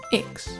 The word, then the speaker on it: Baryonyx: Baryonyx.